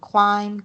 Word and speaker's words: climb: Okay, and then we have um Okay, we have here just a note that the b is silent in climb, comb, debt, and dumb.